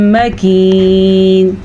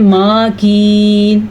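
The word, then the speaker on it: مكين: پڑھیں گے۔ قرار مکین، اکثر لوگ اس کو پڑھتے ہیں ماکین، تو یہ غلط ہے، میم زبر ما، بس اتنا سی اس کی مقدار ہے، تو کیسے پڑھیں گے؟ مکین۔ الی قدر معلوم، قا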